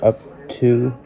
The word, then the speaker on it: Urtue: another unboxing for you i believe it's pronounced up to the two in